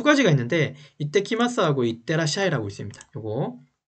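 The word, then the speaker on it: いってきます: 요거 이게 it하고 밑에 ts가 붙었죠? 그러면 이때라고 있습니다. 밑에 받침이 붙어서, 그러니까 한글로 쓸게요 여러분. 이때라고 있습니다. 그죠? 그냥 이라고 쓰면 이라고 읽겠지만 밑에 ts가 작은 글씨로 붙어 있어요. 그러면 밑에 시옷이 하나 붙는다고 생각하시면 돼요.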